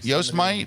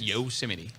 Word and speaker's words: Yosemite: anyway out in Yosemite yo smite it's actually pronounced Yost mine just Yosemite all right so no there's not enough letters in there to be Yosemite okay and this is